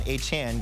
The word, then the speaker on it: Achane: Let's talk about Devon Achane in that game. Remember, his name is now being pronounced Achane.